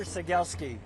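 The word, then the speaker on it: Cegielski: My name is Sagielski. Awesome. Did they spell it for me? C E G I E L like Lima, S like Sierra, K I Seielski.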